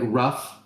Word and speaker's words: rough: where it's like like rough. R O U G H. The GH makes a P like it makes the F sound.